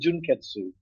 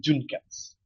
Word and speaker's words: Junketsu: they pronounce senatu and junketsu S cats yeah they pronounce itat and Jun cats while that is not 100% wrong they seem to forget the you behind each of those names because in the Japanese